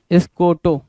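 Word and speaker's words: scoto: एस सी ओ टी ओ स्कोटोो या स्कॉटो दोनों नाम दे सकते हैं। स्कोटोो भी बोल सकते हो स्कटो भी बोल सकते हो।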